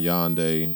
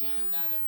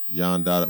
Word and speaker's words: Yan Dada: You can put in Yonde versus is it Yonde Dada? It's John Dada. Yon Dada. Well, you spell it for him. It's something like the Dada. So it's John Dada, YAN space DADA.